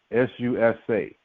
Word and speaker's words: Susa: here it is called in the Greek Susa s-u-s-a that's how they say it in Greek Susa for Susan it is